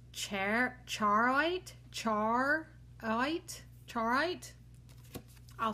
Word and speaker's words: charoite: number 50 is our last one and it's ch charite charite charite I'll spell it c h a r o i t